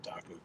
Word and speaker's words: Taku: It is the international showdown: Taku Ito versus Carl Jakobsen.